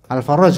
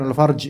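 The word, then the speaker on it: الفرج: Alfaraj bacanya. Bukan Alfarj ya. Alfaraj. Kalau Alfarj Alfarj. Enggak enak diterjemahin.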